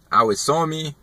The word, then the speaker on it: awesome: Awesome, awesome. Nada a ver. A pronúncia é awesome. Awesome. Mais uma vez, awesome.